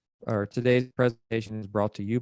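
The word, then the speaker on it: Tadae: Now, today we have with us brother Today, and I didn't say those words back to back on purpose. His name is actually Today, but it's not spelled like T-O-D-A-Y, is it? No, spelled T-A-D-A-E.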